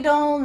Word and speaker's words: don't: Do you notice that that T in the contraction don't is similar to not in the previous sentence? That T, your tongue is at the top of your mouth, but you're not letting the air come out to finish that T sound.